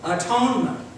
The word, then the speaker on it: atonement: bridging is what the Bible writers called Act one men we pronounce it what atonement the atonement means we